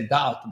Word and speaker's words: doubt: Like you say doubt, but you actually, if you read it, it's doubt. Yeah, with a B, like that. But it's a silent B in doubt.